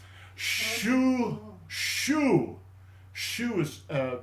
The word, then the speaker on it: Xu: Xu Xu Xu is pronounced is spelled in English XU.